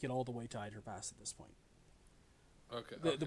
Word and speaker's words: Either Pass: called ier pass and I will spell that for you because spelling is wonky uh e i t h e r p a SS said e it's it spells it spells as either pass it is ier